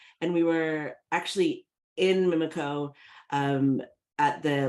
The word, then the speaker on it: Omiimiikaa: we pronounce thank you it's like mimiko okay the the piece